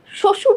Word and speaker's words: শ্বশুর: শ্বশুর যে শব্দটা আছে, শ্বশুরে একদম শুরুতে আছে বফলাটা। বফলা যখন শব্দের শুরুতে থাকে, তার কোনো উচ্চারণ থাকে না, বা তার জন্য কোনো বর্ণ দ্বিত্ব দিতে হয় না, দ্বিত্ব যায় না।